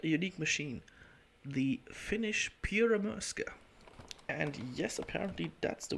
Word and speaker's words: Pyörremyrsky: today with quite a unique machine the finnish pyramurska and yes apparently that's the way you pronounce it pierre maerska which is finnish in stands for a hurricane